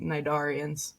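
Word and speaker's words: Cnidarians: And you would think that if I knew the P was silent in pterodactyl then I would know the C is silent in Nidarians.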